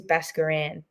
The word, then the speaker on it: Baskaran: Um, I get a couple of different ways that my last name's pronounced. Um, it is it is Basaran.